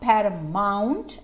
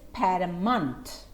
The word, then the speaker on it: paramount: Pay attention to the pronunciation. It's not paramount as in the spelling, but it is paramount.